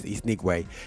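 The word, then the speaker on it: Nwigwe: I was saying the Wingate for years, but it's Nigwe, yeah?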